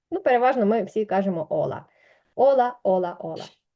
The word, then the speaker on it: hola: переважно ми всі кажемо ола ола ола ола Отже це перше слово яке ви прочитали і я сподіваюсь що ви запам'ятаєте що ця літера яка схожа на Н ніколи не читається наступна літера про яку